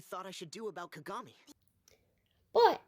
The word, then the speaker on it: Kagami: a main character named Kagami. Do you hear the difference? It's It's about which syllable you stress. I was just asking you what you thought I should do about Kagami, but it's consistent within each show.